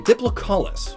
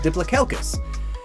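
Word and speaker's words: Diplocaulus: more natural inspiration the diplocollis which up until this point i've always pronounced diplocalcus i don't know where that extra c came from probably its head some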